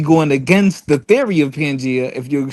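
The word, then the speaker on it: Pangaea: Hey, first first of all, first of all, the crazy thing is it's pronounced pangia.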